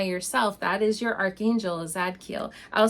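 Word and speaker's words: Zadkiel: really cool so how do you know when zad Keel is in your life or sending you signs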